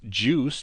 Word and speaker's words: JeOS: Now, JEOS is pronounced juice, just like orange juice, and it stands for Just Enough Operating System.